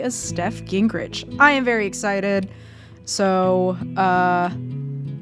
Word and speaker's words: Gingrich: Gingrich? Is that how you say it? Yeah, that's right.